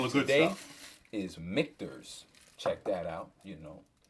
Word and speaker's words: Michter's: Yeah, Michter's. Yeah, that's how you pronounce it.